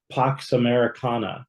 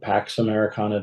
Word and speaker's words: Pax Americana: post World War II, Pax Americana, right? Or Pax Americana, depending on whether you're doing the Latin or English pronunciation.